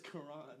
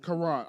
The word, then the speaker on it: Quran: It's Quran. Quran. All right, so Quran, like the Muslim Bible? It is pronounced that way.